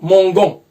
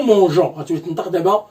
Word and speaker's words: mangeons: Pourquoi on a ajouté E, c'est obligatoire d'ajouter E, à côté de on, ça se prononce mongon. C'est la règle qui dit que G plus O, ça se prononce go. Donc c'est automatiquement ça se prononce gon. Pour éviter cette prononciation, pour trouver une solution, on va ajouter E. Ça se prononce maintenant nous mangeons.